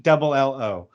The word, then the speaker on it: Bello: And then it's Brayan for Brayan. It's Brayan. It's Bello, or Bello is Bello.